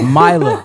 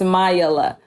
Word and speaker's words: Mayila: a lifelong journey of me trying to get people to say my name right milo milo right it's mayella mila mayala mayala but yeah um for